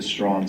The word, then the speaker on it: Strachan: and could use the strong surname and that's why in Canada America Australia and elsewhere the name is popularly the most popularly pronounced strong uh however if you were